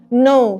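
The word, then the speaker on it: know: نو صح؟ فاولها ايه؟ اولها كي، بس الكي لا ايه؟ لا تنطق.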